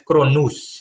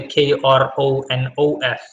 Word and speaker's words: Kronos: I have an article on my website of Kronos, but original pronunciation is Kronus, so Cronus instead of the Kronos as we're used to.